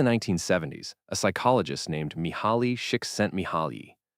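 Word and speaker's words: Csikszentmihalyi: Back in the 1970s, a psychologist named Mihali Shik sent Mihali, pronounced chicks sent me high, set out to answer a deceptively simple question.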